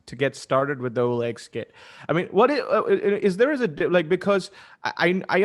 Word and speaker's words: HollaEx: Am I pronouncing that correctly? HollaEx.